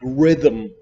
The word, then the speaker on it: rhythm: honor honest air and in the middle of words like rhythm you also don't pronounce it the letter I for